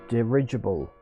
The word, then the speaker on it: dirigible: okay okay let's see what they say derigable dirigible dirigible dirigible okay so it's pronounced dirigible okay dirigible now i know how to pronounce